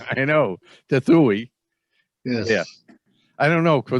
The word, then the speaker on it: Trethewey: moderator which is brent tretherway uh i'm sorry nice i said your last name wrong you had it right the first time i know tethui yes i don't know